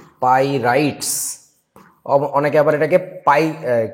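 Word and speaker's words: pyrites: পাইরাইট। এটার উচ্চারণটা হচ্ছে পাইরাইটস।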